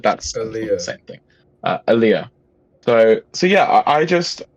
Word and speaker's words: Aaliyah: addictive hook from aliyah i can't keep saying it wrong every time i say it i'm like oliver you've really really up this stuff alia aaliyah i keep saying aliyah like like the muslim thing um but that's